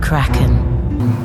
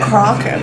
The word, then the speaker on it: Kraken: The Kraken.